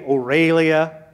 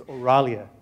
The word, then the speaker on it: Aurelia: Some people say Aurelia. Some people say Orlia. Let's prove them all wrong tonight. The right way to say it is Auralia.